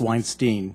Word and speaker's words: Weinstein: Congressman Jones, actually it's pronounced Weinstein.